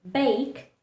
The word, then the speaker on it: bake: So, in words like bake, clue, and taste, the letter E likes to remain silent.